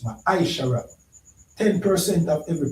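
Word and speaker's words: מעשר: It means tent in the Hebrew and is pronounced maishara.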